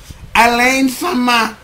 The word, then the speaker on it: Alain: How do you people how do how do you how do you pronounce his name? Um Alain.